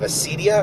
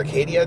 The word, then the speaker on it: acedia: One of the things they talk about is the sin of acedia or Acadia, depending on how you pronounce it.